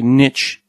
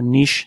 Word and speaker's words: niche: they they're basically like would you say Niche or Niche depending on how you pronounce that uh you everyone's got